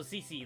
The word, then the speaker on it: CeCe: go the other way also CC that's how you say it all right hello there